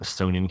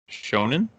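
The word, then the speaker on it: shōnen: Yeah, He's probably the least like Mary Jane Sonin character. Sure. Character. I don't know how to pronounce that. Shonen. Shonen, yes.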